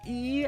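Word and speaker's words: え: is pronounced E as in easy or eat or eel.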